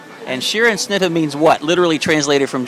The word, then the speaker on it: Scherenschnitte: in wyomissing and i'm going to let her pronounce what her art is go ahead it's called sharon schnitzer and sheeran snither means what literally translated from german it's being